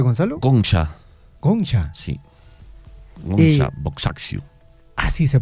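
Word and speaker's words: Agnes Gonxha Bojaxhiu: Gohan Cómo se pronuncia Gonzalo goncha goncha Sí goncha boxxu así se pronuncia la beata madre Teresa de Calcuta fundadora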